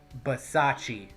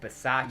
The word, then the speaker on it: Bisaccia: You said you learned how to pronounce it. How did that announcer say it? Let me think. Rick Bisaccia. Rick Bisaccia.